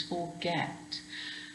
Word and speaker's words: forget: can you hear that get is more stressed it's not like fussing where it's unstressed it's forget now because that's stressed forget